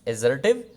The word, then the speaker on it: assertive: Assertive sentences, you will pronounce that word as assertive, Z.